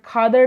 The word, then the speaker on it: Khadar: It is pronounced as bangad, khadad and bangad.